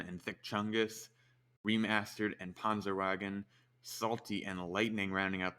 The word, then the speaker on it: Panzerwagen: We do need to point out it's Panzerwagen. Insisted on the German pronunciation of his name, and we have to honor that request, of course, especially when we've got a player like this.